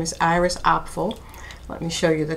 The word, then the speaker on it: Apfel: she's fantastic you know iris opful i had to look up how to really pronounce her name she's considered a fashion